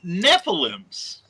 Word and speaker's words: Nephilim: And Lizzie says Nephilims. Nephilims. I think I'm pronouncing it correctly. Nephilim, that is correct.